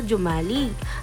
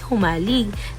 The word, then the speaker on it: Jomalig: maikling impormasyon patungkol sa jumalig ang jumalig Island ang tamang bigkas dito ay humalig na matatagpuan sa silangang